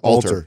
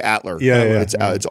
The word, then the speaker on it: alter: Alter. Yeah, I used to say Atler. It's the L's first, right?